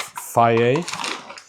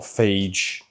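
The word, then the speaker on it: pho: So we're gonna go with the whole pot of faye, not phage, faye. So many people say it wrong.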